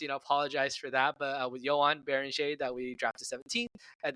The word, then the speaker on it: Joan Beringer: I will say it right. I listened back to when we said it the first time in the last episode. I said Joan Beringer. How very American of me.